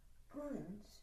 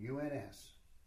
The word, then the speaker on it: uns: Uns. Uns. How do you spell it? U-N-S.